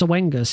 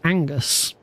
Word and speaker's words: Oengus: forever but it's not it's not pronounced oengus it's pronounced Angus I didn't know this